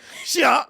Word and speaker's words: Xia: Shia. That is how you're supposed to say it. It's supposed to say "sha," and that is the Chinese pronunciation. That's the right way of saying it.